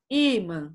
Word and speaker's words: ímã: ímã certo né irmã para não lermos irmã a gente põe o acento no i' ima certo o acento o wii